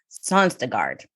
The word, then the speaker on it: Sonstegard: because on the line today i've got sanstegard am i pronouncing your last name correctly honey yes you